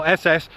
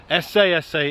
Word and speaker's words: Esseesse: 595 si si and it is si s else the bath that's the right way to say no SS si si is the right name for this car but I've flown well